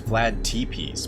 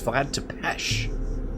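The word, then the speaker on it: Vlad Țepeș: age lived here okay most famous member was Vlad depech hero of the war against the term oh that's how you pronounce that I thought I was thought it was Vlad T piece but it's Vlad to pesh there's no h there are you supposed to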